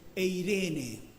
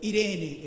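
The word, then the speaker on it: εἰρήνη: El Nuevo Testamento, escrito en griego, dice eirene, o irene en un griego más moderno.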